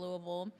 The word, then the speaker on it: Louisville: And then from there, I actually was supposed to go to a D1 school, D1A at NDA, Louisville, University of Louisville.